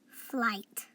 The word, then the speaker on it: flight: saying you say me remember G H are silent so we're gonna say full eye flight like when you catch